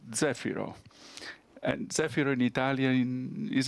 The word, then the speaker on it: Zefiro: burning the Z for Zefiro, second stage, and now about to switch on the Z9, Zefiro 9. My pronunciation is probably a bit wrong. I think it's Zefiro in Italian. Zefiro.